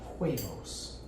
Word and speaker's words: huevos: Huevos. Huevos. The H is silent.